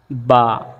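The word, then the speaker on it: باء: আমরা আসি বা বা আমরা যখন বা উচ্চারণ করব তখন আমাদের ঠোঁটগুলো দুই ঠোঁটের মধ্যখানে স্পর্শ হবে যেমন বা দুই ঠোঁট একসাথে একত্রিত হবে বা এবং বা উচ্চারণের সময় এক আলিফ সুন্দর করে করে টেনে আমরা বা উচ্চারণ করবো যেমন বা তারপর আমরা তারপরে আমরা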